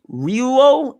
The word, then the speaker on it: Ryuo: Anyway, we got the little bit of a detail that Haki is pronounced as Ryuo and Wano.